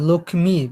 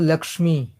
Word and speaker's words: লক্ষ্মী: লিখতে হয় ক্ষিয় ক্ষমা ব্রহ্মা আচ্ছা লক্ষ্মী আর লক্ষ্মী আমরা এই উচ্চারণটা একটু দেখি লক্ষী আমরা কিন্তু উচ্চারণ করি লক্ষী লিখি কিন্তু লক্ষমী ঠিক আছে আর মানে হিন্দি ভাষায় উচ্চারণ করে লক্মী পুরা ভাঙ্গা ভাঙ্গা যে শব্দটা ক মদিনার স